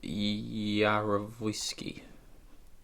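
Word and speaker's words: Yarovesky: Can't pronounce his surname. David Yarovsky.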